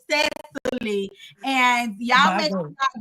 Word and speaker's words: Cecily: I had to get it straight y'all before we started the interview that her name is not pronounced Sicily. It's Sesy and y'all make sure I get that right get that right at all times.